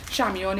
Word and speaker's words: Chamion: social media which is food by Xiang Yan Xiang Yan is my first name it is spelled CH am pi om there's an email